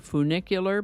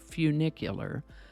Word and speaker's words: funicular: year today's word is funicular I've also heard it pronounced with more of an oo sound like funicular but the dictionary says it's pronounced with the u sound sound like funicular so that's how we're